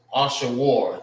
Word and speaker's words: Ashur: And how you say his name in the Hebrew is, I'm gonna write over here, Ashawar. Ashur. It's Ashawar in the Hebrew.